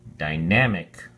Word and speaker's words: dynamic: week six quarter three dynamic has three syllables and the emphasis is on the second syllable so we have die nam mick and we say dynamic we have several definitions